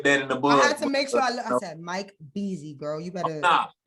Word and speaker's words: Beezy: i appreciate you bro mike beezy you know i said your name wrong last time oh yeah no you would be surprised how many people call me that mike breezy but he was saying